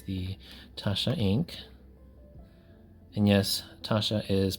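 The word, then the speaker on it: Taccia: And yes, Tasha is pronounced Tasha, even though it's spelled with 2 C's, like some people might say Tachia or another way, but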